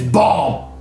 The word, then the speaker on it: bomb: No, the B is silent. The final B is silent. It's bomb.